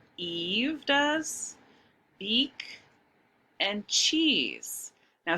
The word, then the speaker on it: Eve: The E at the end only is silent, doesn't say anything. And then for Eve, the first E says its name, the long vowel E sound.